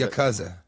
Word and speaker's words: Yakuza: to be rude but you're pronouncing it wrong it's Yakuza your cousin it's your cousin your cousin I didn't